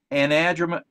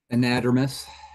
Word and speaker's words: anadromous: Hesse has expertise in anadromous, you're gonna have to correct me on that one, Jay. I can't pronounce that. Anadromous.